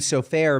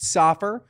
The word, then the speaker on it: Sofer: sofair comes from seair which means book and sofair means a scribe so it just became the pronunciation became a little bit more Americanized safur but it's really sofair or sopur S um